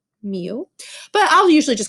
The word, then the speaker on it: mu: it is represented by this symbol that we pronounce mu mu but i'll usually just call it the mean